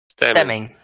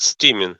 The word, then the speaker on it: stemming: Stemming. stemming. You said steaming. Yeah, it's stemming. I said stimming, but it's stemming.